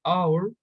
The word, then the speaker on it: hour: to make it easier a word may be borrowed from a language where the letter isn't pronounced for example an hour from an hour from french sometimes the